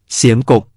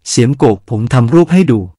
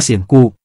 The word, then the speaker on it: เสียมกุก: ภาพและความหมายของคำว่า เสียมกก เป็นที่สงสัยกันตลอดมา ก่อนอื่นจะขอพูดถึงคำนี้เสียก่อน มีหลาย ๆ ท่านอ่านว่า เสียมกุก ไม่ถูกต้องนะครับ สระ อุ ที่เราเห็นนั้น ภาษาขอม ออกเสียงสระ โอ ออกเสียงเป็น โกก เป็นเสียงยาว ไม่ใช่ กก เสียงสั้น ฉะนั้นคำนี้ ต้องอ่านว่า เสียมโกก ปริศนาของคำที่เราออกเสียงว่า กุก ถ้าจะออกเสียงแบบภาษาพูด จะออกเสียงว่า